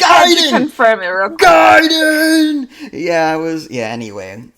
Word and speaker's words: Ninja Gaiden: How did you pronounce Ninja Gaiden? Gaiden, yes.